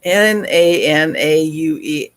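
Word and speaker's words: Nanaue: him Nana are we na na ue they know they pronounce every letter so nan uh Oh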